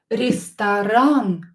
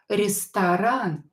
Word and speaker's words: Ресторан: Ресторан. O is not stressed, so pronounce it as A. Ресторан.